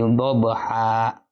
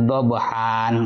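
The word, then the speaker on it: ضبحا: Wal 'adiyati dhabha. Itu ada dhabha, ha. Itu mengganti fathatain dengan fathah. Tidak boleh kita membaca wal 'adiyati dhabhan, enggak boleh. Tapi fathatainnya kita ganti dulu dengan fathah.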